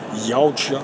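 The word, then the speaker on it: Yautja: história de um jovem Yout. E eu acho que a pronúncia certa seria essa aí, né, da espécie dos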